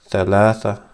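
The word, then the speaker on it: ثلاثة: And this one is Thalatha. This is an H. So Thalatha.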